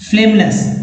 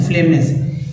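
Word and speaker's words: phlegmonous: Next है फैक्सियस, humerus, डाइक्रोनस, प्रीमीपेरस, परस्पिकेसियस, एक्जिग्यूअस, फ्लेगेमनस, actually जी का नहीं उच्चारण करना है, फ्लेमनस, यस, तो फ्लेमनस, इसी वर्ड मीनिंग के बारे में बात कर रहा था।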